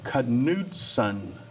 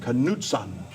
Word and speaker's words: Knudsen: It's Norwegian, actually. Really? Yeah, which is why I spelled it phonetically for you. Cause, Yeah. For a lot of people, it looks like Knudsen or Knudsen, so it's... How do people normally say it, like most often? Usually Knudsen, because when I Knudsen. spell it out full, it's K-N-U-D. So Okay. they see the K-N and think knife or no, and instead of knife or